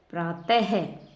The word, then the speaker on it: प्रातः: प्रातः है की ध्वनि आती है वैसे लिखा नहीं जाता है, लेकिन इसकी ध्वनि है उच्चारण करते समय प्रायः है ही निकलती है।